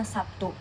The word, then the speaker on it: Sabtu: Contohnya seperti bunyi bahasa Sabtu. Nah, Sabtu ini penulisan sapnya itu adalah fonem B. Nah, sedangkan pengucapan bunyi bahasanya itu seperti bunyi fonem P. Padahal tulisannya adalah fonem B, namun diucapkan seperti fonem P.